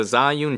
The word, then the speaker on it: Zhiyun: This is the Zhiyun Transmount Quick Setup. I should really pronounce this right.